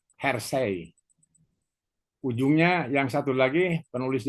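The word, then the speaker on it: Hersey: Hersi. Ujungnya yang satu lagi penulis yang kedua adalah blanchart.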